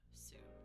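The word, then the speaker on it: す: things like M this we drop the U in those scenarios in those typical sentence endings and I believe there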